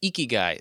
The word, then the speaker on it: ikigai: Eeky guy.